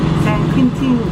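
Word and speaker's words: San Quintín: San Quintin. Quintin, yes. Quintin. I mispronounced it.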